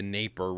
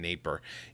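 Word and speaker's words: Dnieper: of on the the naper river it's spelled with a d but i don't think you pronounce the d in neighbor and there are russian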